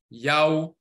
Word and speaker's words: Yahw: So this is Yah plus the W, or the U is Yahw, Yahw, and that's where that comes from.